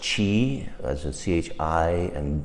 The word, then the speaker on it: Qi: with these two ancient practices Qi Gong is pronounced Chi as at CH I and Gong run me